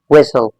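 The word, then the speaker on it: whistle: ये जो टी है ना ये जो टी है इस वर्ड में ये साइलेंट है। क्या है? साइलेंट है। राइट? इसका मतलब ये हो गया कि हमने इस टी को प्रोनाउंस नहीं करना है। क्योंकि ये हमारे पास जो लेटर है this the T letter go silent. You have to keep this T letter silent in this word by pronouncing this word. तो आप बोलेंगे विसल।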